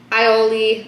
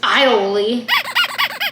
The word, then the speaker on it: aioli: If you don't want someone to say aioli, then why'd you put an A in front of it? Stupid. This aioli. Because he just wants to be all mysterious with his silent A, apparently.